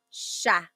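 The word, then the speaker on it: siya: But the s i y combination that makes a shha sound. So sha.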